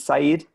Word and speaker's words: Saeed: welcome um and and am I pronouncing correctly is it Saeed yes exactly okay okay great um